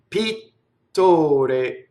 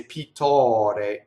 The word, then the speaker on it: pittore: I doubled the T, right? We know how to do that already. Closed O before the R. We love to open O before R, right? So we would say pittore, right? Pittore, closed. There are a lot of things before O, before R that are closed. A lot of closed O's.